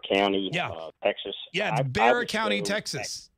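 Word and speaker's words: Bexar: this sheriff in in Bear County uh Texas yeah Bear County Texas it's Bear County which is it's interesting because it's spelled b-e-x-a-r and it's pronounced bear but Texas is not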